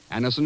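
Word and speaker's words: Anacin: the results ask your druggist for anisin today Anison is spelled a n a c i n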